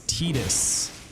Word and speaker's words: Tidus: The correct pronunciation for that character is Tidus. And I will never be on board with that. In my mind, he is always and will ever be Titus.